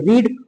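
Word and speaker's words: read: Third form है देखो रीड की first form रीड second form रेड third form रेड spelling same रहती है बस प्रोनंसिएशन बदल जाता है फिर बाद में हम हम लोग लिख देते हैं अदर वर्ड्स।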